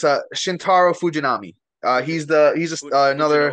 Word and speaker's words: Shintaro Fujinami: Can you pronounce this name? Because I can't. Oh yeah, it's Shintaro Fujinami. Fuji. He's Fuji. No another what? Fujinami.